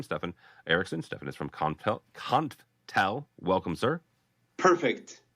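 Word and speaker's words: Konftel: Stefan is from Conftel. Welcome, sir. Perfect. Usually people call us Confitel, so you spell it just perfect. So there's no E there.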